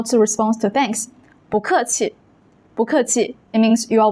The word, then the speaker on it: 不客气: When 不 comes before a four-tone syllable, it changes to a second tone, 不. That's why we say 不客气, 不客气.